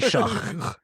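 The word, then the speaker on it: Shough: It's actually Shah. Like you're hawking a loogie.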